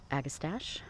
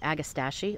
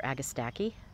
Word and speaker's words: agastache: pinky winkies and the agastache it's actually called agachi or agaki I keep calling it agastache so apologies if anybody kind of cringes when I mispronounce it I catch myself every